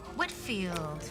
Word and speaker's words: Whitfield: next week and just wanted to get the pronunciation of her last name correct whitfield well that's what i thought and how do